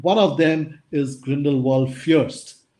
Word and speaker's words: First: of them is Grindelwald Fürst. While the pronunciation is Fürst, the spelling is first.